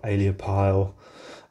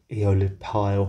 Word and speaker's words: aeolipile: hero engine or or aliapile um eolib pile that's how you pronounce it I think please correct me